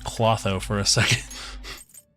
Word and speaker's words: Clotho: I thought that said Clotho for a second. Yeah, it's Clotho, I believe.